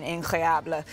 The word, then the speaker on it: incroyable: Yeah, it really has been incroyable.